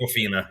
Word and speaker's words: Awkwafina: Am I pronouncing that correct? Awkwafina, yeah.